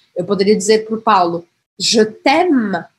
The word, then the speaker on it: je t'aime: Porque eu praticamente não vou pronunciar esse E aqui.